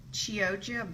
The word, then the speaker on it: Chioggia: I'm just going to roll it up with my showy ingredient, which is I have some Chioggia beets. I'm probably murdering that pronunciation, but that's how I've been told it's pronounced.